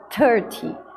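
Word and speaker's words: thirty: Essa é a sílaba tônica, ou 30.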